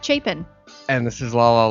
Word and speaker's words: Chapin: Yes, I'll say it correctly. It's Chapin.